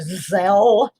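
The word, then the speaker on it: Zelle: But um my bank has this thing I think it's pronounced zel z l e where that you can donate through zel and they do not take any any fees out.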